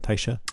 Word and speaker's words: Tysha: Tysha?